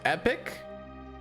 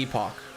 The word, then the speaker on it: Epoch: Technically, it's pronounced epic, but um we as intellectuals will always call it the epoch.